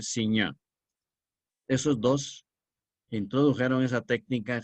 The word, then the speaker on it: Signac: seurat será seurat y signac se pronuncia en francés correctamente siña esos dos introdujeron esa